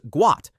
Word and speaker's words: Gout: The correct pronunciation is Guat, not how most people initially read it.